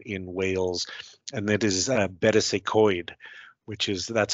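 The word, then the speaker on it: Betws-y-Coed: From there, we make a visit to a very beautiful countryside location in Wales, and that is Betws y Coed, which is, that's how you pronounce.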